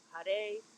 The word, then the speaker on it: Har: It's Har, Haray, Haree. Had, Hare, Hari. And now, if you were to pronounce it in our American way of speaking, Hare, Hari, but the R changes to a rolled R or a D.